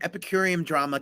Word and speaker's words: Epicurean Drama: Well, you're the executive chef and you run Epicurean Drama Catering and Events in Atlanta, Georgia. I maybe said it right. You did. You said it correctly.